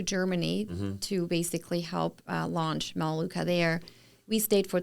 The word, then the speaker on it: Melaleuca: I know that at this point we're not in Myluca yet. Am I saying that correctly? Melaleuca. Yes. I was just leaving out a It's syllable.